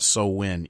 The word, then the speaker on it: Samhain: Loomis describing to a police officer what what he calls Samhain which is actually pronounced so when what so when is and his understanding of it so here